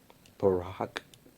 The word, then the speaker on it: baroque: told me that it was pronounced barack barack is it real instead of baroque the type of music this is really but people in the comments of our last bach video was that it's pronounced barack interesting i don't know